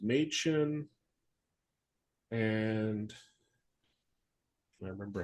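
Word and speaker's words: Mädchen: is name matchin or Ma sorry it's it's pronounced maen and I remember how the other the other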